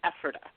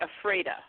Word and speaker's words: Ephrata: You were very close. It's Ephrata. But if you were in Washington State, it would be Ephrata.